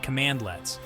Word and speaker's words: cmdlets: Computing environments Powershell uses cmdlets pronounced command lets which are small single-p